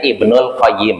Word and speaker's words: Ibnul Qayyim: Ibnu qayyim aljauzi nah kalau mau tanpa disebutkan aljauziyahnya berarti bacanya Ibnul qayyim itu maka kalau ada yang bacanya Ibnul qayyim aljauziyah berarti dia tidak paham bahasa Arab yang benar Ibnul qayyim atau Ibnu qayyim aljauziah guu Nah di sini